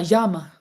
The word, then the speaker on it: llama: Crochet the llama. Llama. Yama. I I in Spanish it is yama, but it's spelled with two L's.